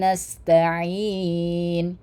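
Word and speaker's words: نستعين: Iyyaka na'budu wa iyaka nastain. Kanas ya ingat kanas sinnya harus kita keluarkan sifatnya sin kanas gitu ya. Ada hamesnya.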